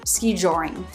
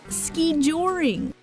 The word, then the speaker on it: skijoring: ski jewelry ski drawing three syllables with stress on either the first or second syllable the narrator put stress on the second syllable here Jor ski drawing the man being interviewed put stress on the first syllable ski ski drawing is